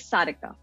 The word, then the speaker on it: Sarika: approach in which i would say it is sadika okay okay all right good cool so um